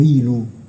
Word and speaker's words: ilu: pronunciato dai Sumeri Dingir, i popoli accadici invece la scrivevano nello stesso modo, ma la pronunciavano in modo diverso, perché gli accadi sono un popolo semitico, e quindi la pronunciavano il o ilu.